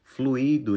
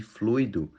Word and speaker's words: fluido: em vez de avaro fluído em vez de fluido gratuito em vez de